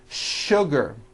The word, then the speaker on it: sugar: words in English that are written with the letter S but are pronounced with the SH sound words like sugar and sure and to